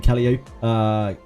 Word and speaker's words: Calliope: It's likely a misspelling of the Greek name Calliope. Calliope. Calliope. Calliope. Calliope. Calliope. Calliope. Calliope? Calliope? Calliope. Yeah, the emphasis is on the second syllable.